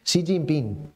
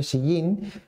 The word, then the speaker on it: Xi Jinping: Xi Jinping, muy importante, hay que aprender a pronunciarlo.